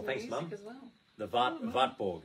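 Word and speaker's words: Wartburg: As well, the Vatborg, it's pronounced in German, the Wartberg Castle, as we would say, Vborg.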